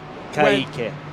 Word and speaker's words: Kaike: How do you say that first name? Kaike. But is it different when there's a K versus a C? No, it's the same. It's the same thing.